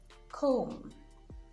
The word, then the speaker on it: comb: Now, the B is silent when it comes after the letter M. So you have comb, climb, thumb, dumb, even in plumber.